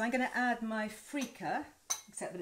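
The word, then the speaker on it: freekeh: that's cooking so i'm going to add my frica except that it's not freaker it's spelt to this so shove that in there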